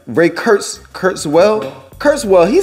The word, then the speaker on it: Kurzweil: is that still far-fetched is that still far-fetched no and then rake if i'm pronouncing his is his name right ray kurtz kurtz well kurzweil he said that by 2025 and 2045 will